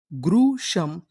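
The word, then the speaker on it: gruesome: पढ़ते हैं हम लोग शम तो पूरी मीनिंग ग्रुशम ग्रुशम ग्रुशम का मतलब होता है भीषण क्या होता है?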